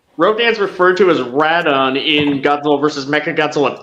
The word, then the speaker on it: Rodan: is how it's um the Katakana for it I think is actually radon instead of Rodan and then when it was brought over to the US they changed it to be Rodan and I think there